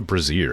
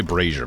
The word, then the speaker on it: brazier: Why do I always call it a breazier? every single time. I think it's cuz it's spelled the same. We're pretty close. Is it the spell? It might be spelled the same. That might be why I keep making that mistake. I keep meaning to say brazier, but I always say breazier first.